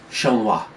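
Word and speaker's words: Xianghua: Her name is pronounced Shenghua. Shenghua. That that makes X-I-N is a Sheng sound.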